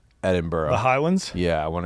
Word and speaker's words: Edinburgh: It's like Edinburgh, like the correct pronunciation is like Edinburgh.